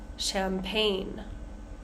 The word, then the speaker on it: champagne: let's go to some words with a silent G say G we have sign champagne na High light rain